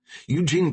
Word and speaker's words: Eugene: Eugene Pate. Jerry Z pronounced the first name hard like ge ne.